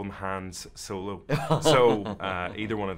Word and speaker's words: Han: It's Han.